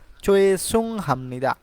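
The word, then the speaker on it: 죄송합니다: আছে চয়েস সুং হামনিদা চয়ে সুং হামনিদা তো এটা কেন চো হবে কারণ জিও যদি বাক্যের শুরুতে বসে তাহলে চ এর উচ্চারণ হয় চয়ে সুং হামনিদা অর্থাৎ মাফ করবেন দুঃখিত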